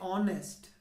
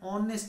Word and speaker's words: honest: say he is an honest man why because h is silent in this world right